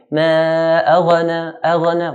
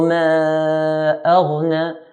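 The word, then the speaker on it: ما أغنى: Nor do we put qalqalah on the ghain like we hear some people saying ma aghna. We don't want aghna because ghain is not from the 5 qalqalah letters. So ma aghna.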